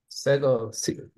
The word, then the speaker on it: Segal: How do you say your name, Raz? Segal. It's fine. Okay, say Segal, Raz Segal. I always do the Hebrew pronunciation.